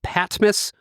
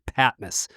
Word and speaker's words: Patmos: to be talking about today is called the patmas public library just want to clear that up that's the pronunciation I've heard a lot of different pronunciations